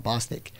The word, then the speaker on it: Bostic: A friend of mine, his name is Joey Boston. I always say his last name wrong. Bostic, up in Dallas.